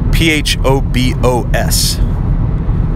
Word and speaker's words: Phobos: from a root word pH OB OS you can pronounce it Phobos 5 oz Phobos Phobos pH OB OS it's